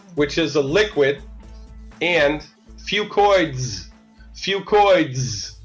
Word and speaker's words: FucoidZ: The two products are Zradical, which is a liquid, and FucoidZ. FucoidZ. Say that 10 times fast. I call it FucoidZ because that's easier to pronounce.